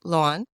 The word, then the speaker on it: Loan: born in Vietnam and my Vietnamese name is Luan which is spelled l-o-a-n so part of my